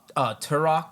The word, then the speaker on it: Turok: Classic Turok. You guys remember Turok? Is it Turok? Am I Turok.